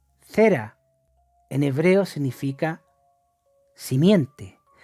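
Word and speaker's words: זרע: Y la palabra simiente en el hebreo se pronuncia cera.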